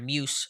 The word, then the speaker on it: Muse: wrote about tanner uh is it muse or music maybe it's just muse uh is the right pronunciation there so um what is